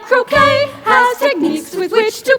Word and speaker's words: croquet: Croquet, the T is silent, and we got to play the game if we want to fit in with the sacred 36.